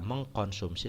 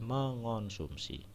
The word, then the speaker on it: mengonsumsi: penulisannya terutama dan pengucapan jadi ada imbuhan me terutama yang bertemu dengan huruf awalnya KTSP itu dia luluh Lul itu lebur ya penulisannya seperti kata me ketemu kata kuat tulis dan sebagainya nah sehingga harus diperhatikan kalau temu kata kuat menjadi menguat ya dia luluh ya Tidak mengkuat sehingga ada kata mengkonsumsi salah harusnya mengonsumsi ya me ketemu kata